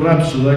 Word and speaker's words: rapsoda: cantor que es poeta según un vicio oculto que pronuncia acentuada la palabra aunque esta gramaticalmente no se acentúe algunos nos gusta en vez de decir rapsoda que eso es lo correcto gramaticalmente respetar una vieja tradición